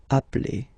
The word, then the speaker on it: appelle: So when you get this a vowel and then you get a double consonant, and well, they are the same, then it does change the pronunciation of a. You tend to pronounce it like really open.